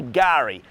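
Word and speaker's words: K'gari: day Fraser Island or the other name for it is gar spelled with a silent k so it's kagari if you were to spell it fanatically but it's a silent case so we say Gary and that's the Aboriginal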